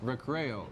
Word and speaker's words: Recreo: Recreo.